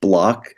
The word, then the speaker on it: Bloch: Oftentimes, because it's pronounced Bloch, but it's spelled with a CH instead.